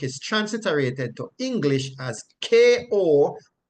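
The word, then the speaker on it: κοπιάω: transliterated to English as Kopiao, and it is pronounced kopiao, meaning to feel fatigue, and by implication, to work hard.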